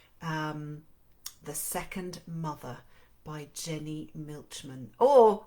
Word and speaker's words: Milchman: The Second Mother by Jenny Milchman, or with my German roots I would say Milchman, but apparently that's not how you pronounce it in North America.